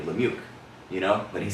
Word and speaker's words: Lemieux: I only know how to say it cuz he's on Sirius on the channel and he doesn't sound like a David Lemir, but he sounds like a David Lemieux, you know, but he says it that way, so that's how I know.